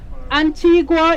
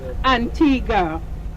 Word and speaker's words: Antigua: you heard both pronunciations Antigua is the Spanish pronunciation because of the whole Columbus thing and in Spanish Antigua means ancient but we were colonized by the British in 1632 so it's pronounced Antigua so now we're going